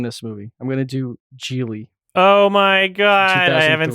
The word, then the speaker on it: Gigli: It's like Jiggly again, or how do you spell that? What's the title I think again? it's Geely.